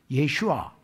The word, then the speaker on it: 예슈아: 그게 앞으로 적 그리스도를 중심으로 해서 재림 예수와 싸우기 위해서 여호수아가 예수의 모양이거든. 예슈아. 여호수아가 예슈아입니다. 지금 발음으로 하면서 재림 예수와 싸우기 위해서 연합할 것을 이야기합니다.